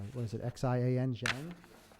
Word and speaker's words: Xi'an: I don't know how to pronounce this, but it's, what is it, Xian? Xi'an?